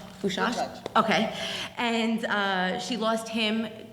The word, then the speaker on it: Bydgoszcz: in her town, which, excuse me if I'm pronouncing it wrong, but. - Bydgoszcz. - Bydgoszcz?